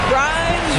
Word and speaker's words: Grimes: Grimes rhymes with time on time right there.